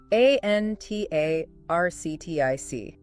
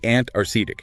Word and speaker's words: Antarctic: The common mistake is dropping the first c. It should be antaredic. You need to hear that k sound after the first t. Antaric, not antarctic. Exactly. Get that arc in there.